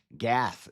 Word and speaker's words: Gath: Gath is how you say lore class is live.